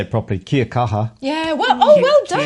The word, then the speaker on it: Kia kaha: Kia kaha.